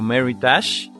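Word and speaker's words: Meritage: la letra m tenemos la palabra medidas o mary touch ésta se escribe m&r y d a g vino veritas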